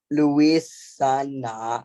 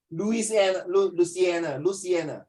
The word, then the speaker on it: Louisiana: Black communities living in industrial area like Newark, New Jersey, and Cancer Alley in Louisiana are no, it's pronounced as Louisiana are disproportionately vulnerable to negative effects of pollution from planets, from planes, my dear, not planets, from planes.